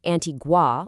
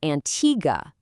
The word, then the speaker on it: Antigua: It is not Antigua like the word for water in Spanish. It's Antigga.